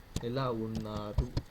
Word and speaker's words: ఎలా ఉన్నారు: When you use మీరు, we should pronounce it as ఎలా ఉన్నారు.